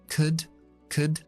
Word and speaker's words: could: Could, would, should. Los 3 verbos modales que contienen L's que no se pronuncian nunca. Y la OU, en este caso, siempre es una U corta.